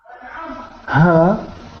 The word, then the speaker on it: her: Her and her. Her hair. No. Her hair. Her hair. Yeah. So her is quite often mispronounced like hair, a little bit like hair, but the second word is her hair.